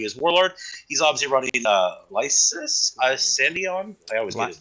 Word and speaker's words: Lias Issodon: He's obviously running Lias Issodon. I always get his name wrong. Lias Issodon.